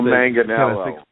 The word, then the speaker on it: Manganiello: Joe Manganiello.